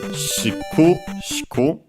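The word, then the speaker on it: しくしく: By the way, its accent is on the ku, on the first ku, shiku, shiku.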